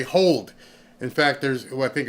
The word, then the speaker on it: HODL: Well, there's a whole bunch of people who talk on Twitter about this, and it's HODL, hold. They just spell it differently.